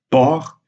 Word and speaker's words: port: Mais quand la voyelle est suivie par une consonne, c'est-à-dire quand la voyelle est entravée, dans ce cas, on maintient la prononciation ouverte. Et en fait, on dit port et saute.